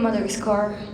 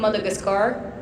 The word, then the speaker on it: Madagascar: I'll bring somebody from Mother's Car, I think. Sorry. I think I'm going to bring somebody from Madagascar.